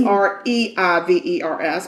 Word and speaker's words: Reivers: So Olivia, I'm going to say her name is Rivers, but it could be Reavers. It's Reivers, but I'm saying Rivers.